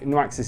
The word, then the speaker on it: Nuaxis: start with the name I'm going for it being pronounced as noxis n u a x i s but it could be something else it could be noxi it could be noxi it could be whatever I think newaxis is probably the best way to pronounce the name for this